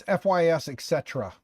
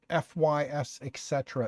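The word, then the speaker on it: FYSETC: talk to him yeah it's fys Etc so it's fect but FY Etc is apparently the proper way to say that just like I FL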